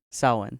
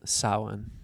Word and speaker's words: Samhain: Samhain. Samhain. Yeah. Which is not spelled the way I pronounced it.